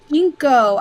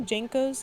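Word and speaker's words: JNCO: Oh, it's Jinko. I pronounced it Jinko? Django, like G-A-N-G-O. What did I say? Jankos?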